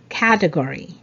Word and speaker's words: category: the correct pronunciation is category category so there's uh stress on the first syllable category not category okay good number 18